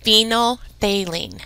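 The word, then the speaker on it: phenolphthalein: So I would probably pause that and write that it's pronounced phenylthalene.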